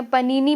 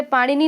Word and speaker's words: पाणिनि: पनीनी भी इनको इंग्लिश में कहा जाता है, पनीनी होती है स्पेलिंग, तो उस तरह से पाणिनि ने लिखी है अष्टाध्यायी।